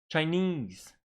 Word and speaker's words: Chinese: 3 syllable, Arabic, Arabic, Arabic on the first syllable. Chinese, Chinese, like this one, Brazil, Japan, Chinese.